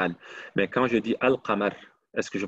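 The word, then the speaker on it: القمر: Mais quand je dis Al-Qamar, est-ce que je prononce la lame ou non?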